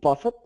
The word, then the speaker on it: buffet: Are you saying buffet? Buffet, sorry. You know the T is silent, right? It's buffet.